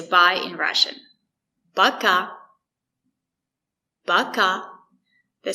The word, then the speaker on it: Пока: Пока. Пока. The stress is on the second syllable.